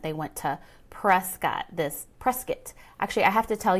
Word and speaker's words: Prescott: to say press kit not Prescott which I learned my first few years here I've been here for 20 years and it takes a while to get used to that but you have to say it right so it's press kit like biscuit all right up in